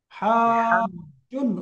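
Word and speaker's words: حاجٌّ: হাজুন, জিমের মধ্যে তাসদীদ, হাজুন, উচ্চারণ হাজুন। করুন তো, হাজুন।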